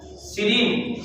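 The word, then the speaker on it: serine: आगे लिखिए तीसरा, सीरीन। सी री और न, सीरीन।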